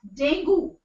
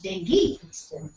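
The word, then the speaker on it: dengue: until now you know the first uh expression of the pronunciation which comes out by default is dangu only but it's Deni actually radio television also many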